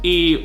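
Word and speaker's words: är: it's mostly spoken there we have ad which means is and that's mostly pronounced E or F for instance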